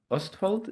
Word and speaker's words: Østfold: like to welcome Henrik Sætra, who's an associate professor in Østfold. Is that how you pronounce it?